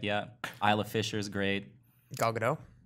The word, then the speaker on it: Gal Gadot: have to print it have to pronounce the T no sorry yeah this is news yeah not not like the French would pronounce it have any of